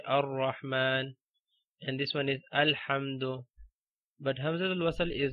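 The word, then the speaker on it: الحمد: Okay, we have this alif in the start, okay, or hamzatul wasl in the start, so we have to pronounce it like alhamdu.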